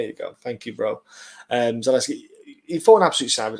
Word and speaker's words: Zaleski: Absolute savage in Zalik. I fucking hate these pronunciations. Why can't I say the name? So well, bloody hell. Alexis. Yeah. There you go. Thank you, bro. Zaleski.